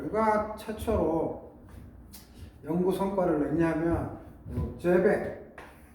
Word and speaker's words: Seebeck: 그래서 열과 전기에 관한 건데 이거를 누가 최초로 연구 성과를 냈냐면 제벡, 꼭 불어 같지만 발음은 제벡이죠.